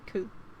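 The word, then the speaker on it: く: You pronounce it as ku.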